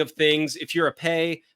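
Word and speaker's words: Pays: things if you're a pay p pa y s but the S is silent um that's basically a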